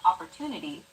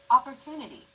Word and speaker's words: opportunity: than syllables that are unstressed opportunity the stressed syllable 2 in opportunity is deemed more important so it's pronounced longer than all other syllables listen to it again opportunity this gives english a machine gun like rhythm